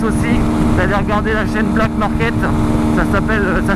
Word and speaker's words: BLK MARKT: Notamment, je vous conseille, si ça vous intéresse aussi, d'aller regarder la chaîne Black Market. Ça s'écrit BLK MARKT, quelque chose comme ça.